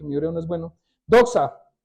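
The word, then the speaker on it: δόξα: el Nuevo Testamento y la palabra original se pronuncia Eso sí me perdona mi hebreo porque mi hebreo no es bueno doxa doxa Y eso quiere decir Gloria Cari Claridad majestad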